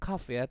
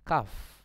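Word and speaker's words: cough: contoh penyakit eh kak ini bacanya kavya temennya GH ini jangan dibaca kok enggak ini Kav Jadi huruf g h ini bunyinya seperti huruf F hebatnya Kaf Kaf ya ini artinya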